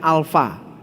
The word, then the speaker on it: alfa: Dalam alfabet Yunani huruf pertamanya adalah huruf alfa, huruf A, dibacanya alfa. Ini tuh A tuh, bukannya Avengers. Lalu di bawahnya itu setengah lingkaran, setengah huruf O.